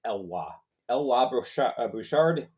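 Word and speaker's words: Eloy Bouchard: So Eloy, I always mispronounce his last name. It's Elwa Bouchard.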